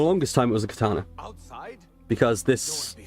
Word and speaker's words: katana: Carton and ka it's technically the first syllable is stressed so it's katana right kana but in the west it's a katana it's linguistics it's dafted everyone in the west because the west tends to stress the second uh the second bit of the word so much it it became katana over here but Japanese it was